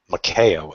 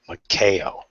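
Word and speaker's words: Maiko: And Makeo, M-A-I-K-O, made me spell it 3 times. Makeo. There's no A in it. It's just K. Makeo.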